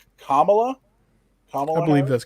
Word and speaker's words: Kamala: like president how do you say her name kamala i believe that's correct yeah um future president